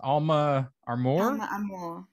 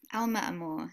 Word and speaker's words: Alma Amore: i got that right what about your business alma are more alma amore yes spanish yeah it means soul love